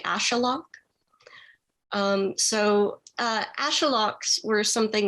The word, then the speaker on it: axolotl: than i did so most english speakers pronounce it axolotl i found out a few months after the book came out that a more accurate pronoun pronunciation would be ashalok um so ashaloks were